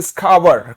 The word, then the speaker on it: scour: इसका उच्चारण SCOUR, इसको बोलते हैं स्कावर।